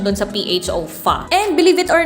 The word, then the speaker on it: pho: So, yun daw yung pronunciation dun sa PHO, pho.